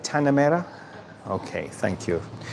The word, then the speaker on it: Tanah Merah: Tanah Merah. Tanah Merah. Do I say that right? Tanah Merah?